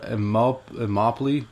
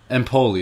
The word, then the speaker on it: Empoli: transfer offer I think he plays for Immokalee maybe empoli there it is now I remember it now but it kind of rhymes with Napoli and that's how I